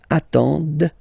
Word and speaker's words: attendent: at the plural form, ent, but then you don't pronounce them. Ils attendent, de, okay, so remember you get to pronounce this, d at the end, okay.